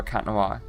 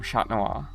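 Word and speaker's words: Chat Noir: I don't know but I do kind of prefer Cat Noir though aggressive fans will only ever call him Shat Noir. That's how you say it, Laura. That's how you say cat in French.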